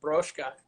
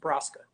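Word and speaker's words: Brzoska: My last name is pronounced Broszka and Polish. But in America, you just lose the Z and just Broska.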